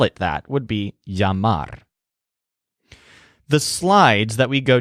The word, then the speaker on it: llama: a customer calls him a llama pronounced the English way rather than a yama which is how you'd pronounce it in Spanish he pours out his